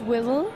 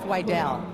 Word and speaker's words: Wydell: In the Devil's Rejects, you played most of the scenes with William Forsythe, and he was playing Sheriff Whittle, right?